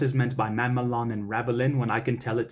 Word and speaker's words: ravelin: We start with, in fact, when I know what is meant by Mamelon and Ravelin. You can roll your R's for Ravelin if you want to as well.